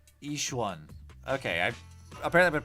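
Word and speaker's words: Yixuan: You can call me Yishwan. Ishwan. Okay. I've apparently been pronouncing that not correctly.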